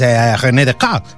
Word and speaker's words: René Descartes: o quién era pues René Descartes, que te lo pronuncio en francés porque soy yo muy francés, ¿no?